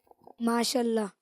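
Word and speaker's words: ما شاء اللہ: کا کچھ کہتے ہیں، لیکن انہوں نے درست تلفظ سے ادائیگی نہیں کی۔ وہ کوئی درست طریقے سے بتائے گا؟ چلیں آپ بتائیں۔ ماشاء اللہ۔ ماشاء اللہ کہتے ہیں ان کا، اور ان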